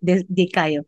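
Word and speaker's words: δικαιόω: Kung pangutanon ka, gigutom ka, dikayo, no? That's how you pronounce it, dikayo.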